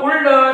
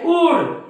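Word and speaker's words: would: ते cooled उल्ड शुल्ड पण हे कुल्ड नाही उल्ड नाही शुल्ड नाही हे आहे कुड काय आहे कुड हे आहे वुड हे आहे शुड म्हणजे या डी च्या अगोदर एल हा काय आहे सायलेंट असतो या डी च्या अगोदर एल काय असतो सायलेंट असतो त्याच्यानंतर बघा हा जो एफ आहे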